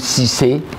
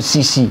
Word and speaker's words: Cissé: Parce que quand on m'appelait, au lieu de dire Sissé, je dis Sissi. Je dis non, C.